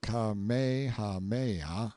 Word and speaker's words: Kamehameha: When Kamehameha, pronounced Kamehameha, the Great, who was